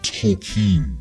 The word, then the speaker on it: Tolkien: It's pronounced Tolken.